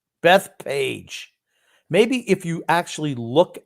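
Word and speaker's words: Bethpage: i live in beth beth pitch what is that grump how do you pronounce that that's page that page oh i'm sorry grumpy can i apologize jesus my god beth page maybe if you actually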